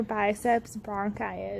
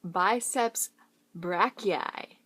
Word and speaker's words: biceps brachii: flexes the forearm okay it's actually pronounced biceps brachii do you know where